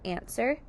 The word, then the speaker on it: answer: That W is going to be a silent sound and a silent letter. To make the word answer, let's sound out answer.